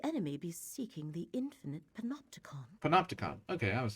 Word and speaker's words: Panopticon: Could the enemy be seeking the infinite panopticon?